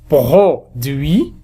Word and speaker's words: produit: C'est produit on ne prononce pas T.